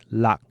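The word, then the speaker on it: 六: We then discussed the number 5, which is pronounced go, followed by 6, which is lak.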